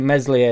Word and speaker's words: Meslier: it's CU you're watching mesli a silent s you're not necessarily look